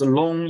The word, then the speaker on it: Loong: The Chinese dragon is pronounced long in English.